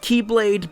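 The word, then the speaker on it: χ-blade: war was centered around a weapon called the Chi blade which is technically pronounced Keyblade but that's going to get confusing fast so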